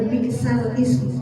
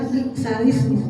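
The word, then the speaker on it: بِئْسَ الِاسْمُ: Jadi bacanya adalah balsal ism balik balsalismu. Jadi bacanya harusnya balsalisme ya bukan balsalism ya.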